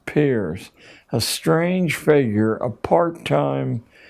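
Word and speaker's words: Peirce: has produced he was it's pronounced peers but it's spelled as if it were pierce charles s pierce a strange figure a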